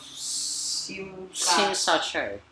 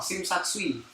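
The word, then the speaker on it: Tsim Sha Tsui: It's a guest house in the middle of Sim Sa Choi. What? Sim Sa Choi. So all this time I've been pronouncing it wrong. Sim Sa Tsui.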